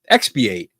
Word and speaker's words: expiate: to uh pronounce it for me let's see pronunciation there you go I love Google here we go here we go expiate I had it right expiate so for an